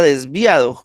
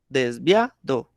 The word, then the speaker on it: desviado: Bre- Mire que el acento lo estoy poniendo en via, desviado, ¿sí?